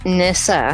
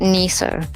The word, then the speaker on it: Nissa: First of all, my name is pronounced Nissa, This up. Yeah. Oh, sorry. not Nisa.